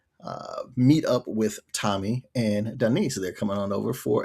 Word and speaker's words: Denise: it, we now see Denise. And that is how her name is pronounced. Almost sounds like it's a part of a Key and Peele sketch or whatever. That it's not Denise? No, it's Denise.